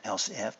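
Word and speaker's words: elif: control flow statement now i know it reads e-l-i-f and how am i pronouncing that else f but it's a shortened version of else if we are going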